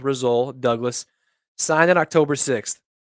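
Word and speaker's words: Rasul: having uh result douglas i think i've been saying his name wrong rosul i think it's resole um i'm not exactly sure i've heard a lot of people say both things but i'm gonna go with rizzol douglas signed it october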